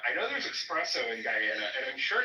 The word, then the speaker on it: Guyana: And I'd be like, "Yeah, you know, cuz my family's from Guyana." And she would literally be like, "It's pronounced Giana."